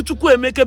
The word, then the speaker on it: Chukwuemeka: My name pronounce Chukwuemeka because he ends with E, not with A.